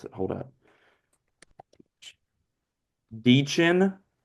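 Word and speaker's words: Dichen: Deechin. I know that's how you say your first name.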